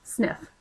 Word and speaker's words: SNF: a Skilled Nursing Facility we abbreviate Skilled Nursing Facility with SNF which we pronounce sniff by its simplest definition